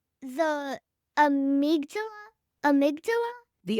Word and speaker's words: amygdala: Mirror neurons and something called, the amygdala? Amygdala? The amygdala. There, nailed it. It's hard to pronounce without sounding like I'm personally malfunctioning, but first, stick with me.